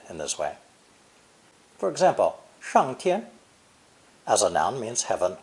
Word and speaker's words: 上: verb to go up, pronounced fourth tone, 上, 上.